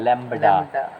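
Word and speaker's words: lambda: अब देखो एक रिलेशन है लैम्डा बराबर सी बाय न्यू, लैम्डा बराबर लैम्बडा, क्या पढ़ना है? लैम्बडा। हाँ, कोई कहेगा लैम्डा, कहना एक बार लिख कर दिखाओ तो स्पेलिंग उसका इंग्लिश में आ जाएगा वहीं पर।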